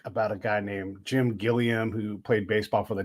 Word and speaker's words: Gilliam: And so do you say Gilliam or Gilliam?